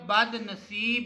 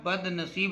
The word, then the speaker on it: بد نصیب: لفظ ہے بد نصیب۔ بے کے اوپر زبر اور دال کے اوپر جزم ہوگی، اور نون کے اوپر زبر اور جو سواد ہے اس کے نیچے ہم زیر لکھیں گے، تو لفظ ہو جائے گا بد نصیب۔ اس کے اعراب جو